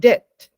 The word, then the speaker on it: debt: Adakah ada B dalam the word debt? Well, obviously. Right? Obviously. It's a very subtle thing in English. Very subtle. Tadi kita lihat huruf debt ya, which is, it is spelled as D-E-T.